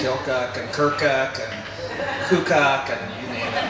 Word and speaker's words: Keokuk: I've heard Keokuk and Keokuk. Keokuk. Keokuk. Okay, got it. It's Keokuk. Keokuk. Thank you, Mayor Richardson. And even the natives say Keokuk, and there's no L in Keokuk, but they say Keokuk